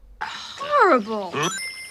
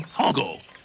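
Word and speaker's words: Hoggle: counter of how often someone mispronounces Hogg's name Horrible no I ain't I'm Hogle who are you Sarah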